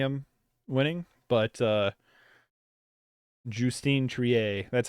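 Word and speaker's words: Justine Triet: happy with any of them winning but uh jtine Trier that's how you say her name so I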